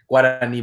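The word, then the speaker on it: Guaraní: Guarani, by the way, is how it's pronounced, but I appreciate the effort.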